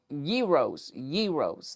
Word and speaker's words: Yeros: It was Yeros. There we go. I keep remembering. Rhymes with heroes, but it's a euro.